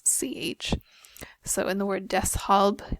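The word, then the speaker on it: deshalb: so in the word Des hob there's a little bit of a break between the S and the H in your pronunciation Des we have uned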